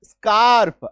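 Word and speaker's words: scarf: तो ऐसे में इसका उच्चारण क्या होगा? आधा स और क सिंपल। तो एस ए आर एफ स्कार्प आधा स क।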